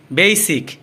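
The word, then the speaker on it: basic: সালাত এটা হবে সালাত বেইসিক বেইসিক এটাকে আমরা আগে বেসিক বলতাম বেসিক এটা হবে মূলত বেইসিক বেইবি বেইবি এটাকে আমরা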